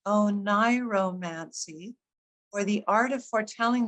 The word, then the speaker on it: oniromancy: Oniromancy, as it's pronounced, oniromancy, or the art of foretelling the future through